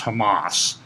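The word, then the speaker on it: חמס: that war there is a Hebrew word state pronounced Hamas for thy violence for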